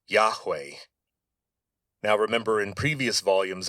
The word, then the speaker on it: Yahweh: And of course the way you would say this phonetically is Yahweh.